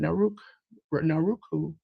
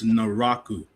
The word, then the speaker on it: Naraku: Naruk, I can never pronounce the name. Naruku. J News, help me out. It's Naraku. Naraku.